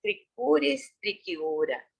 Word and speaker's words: Trichuris trichiura: Cuando hay CH podemos pronunciar solamente con la C. Trichuris o sería con Q o K el sonido.